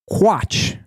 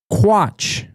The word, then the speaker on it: Quatsch: It's actually a German word. It's Quatsch. Quatsch.